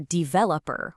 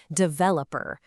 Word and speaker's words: developer: It is so common to hear developer with all the energy on that first syllable. But the correct way, the way that just flows more naturally, puts the emphasis smack in the middle, developer.